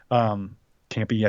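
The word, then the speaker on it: Kampe: Campy, I think is how you say it.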